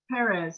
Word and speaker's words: Perez: Perez, is that how you say it? Yeah, the Perez.